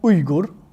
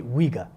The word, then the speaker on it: Uyghur: a few things so the word really good is the way it's actually pronounced when English take holy Weger and they are ethnically